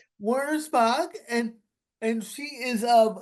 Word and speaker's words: Wernersbach: Kelly how do you say your last name Warner spach Warner Spock and and she is of adjust your sleep